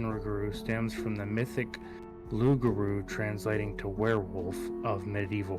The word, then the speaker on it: loup-garou: When the Acadians were exiled from France, they brought the legend of the Loop Guru, pronounced Lugaru, sorry, to Nova Scotia and later on Louisiana.